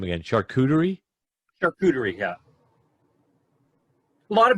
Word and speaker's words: charcuterie: Yeah, that whole, I'm going to butcher the name again, charcuterie?